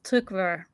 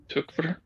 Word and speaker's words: Tykwer: the wowski plus Tom tyer I still don't know how to pronounce his name but um in and if you're trying to go for the correct German it's tuver tuver okay um yeah and